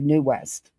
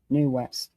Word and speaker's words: Nu West: the perfect copy of New West and it's NU West. New West. It's not spelled like it sounds.